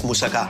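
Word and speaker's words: moussaka: i' I've had better let me say it right what why do you say it it's musaka musaka musaka musaka that's your better am I say right musaka musaka that's right musaka musaka good girl okay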